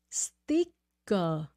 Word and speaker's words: sticker: you are saying sticker sticker okay it's a short I again sticker sticker and remember c k f c that sound yeah sticker sticker sticker STI